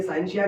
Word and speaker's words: scientia: साइंशिया, जब हम इसकी प्रोनाउंसिएशन करने जाएंगे साइंशिया की, तो हम साइंशिया की प्रोनाउंसिएशन करेंगे साइंशिया।